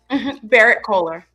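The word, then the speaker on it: Berrett-Koehler: which will be released by, how do you pronounce that? Barrett Collier? Barrett Kohler.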